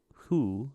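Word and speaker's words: Hsu: And Stephanie Hu, I think that's how you say it.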